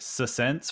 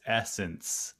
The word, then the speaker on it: Essence: In my head, I said it Sense for the longest time, and then a girl at my work was like, "It's Essence," and I was like, "Oh, yeah."